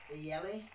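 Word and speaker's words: Jelle: But it's actually pronounced Yelly.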